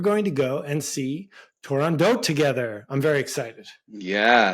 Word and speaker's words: Turandot: It is Turandot. Right, yeah. Because it has to rhyme with another O word.